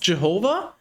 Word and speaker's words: YHWH: No, his name is it's pronounced Jehovah, but it's spelled something like that.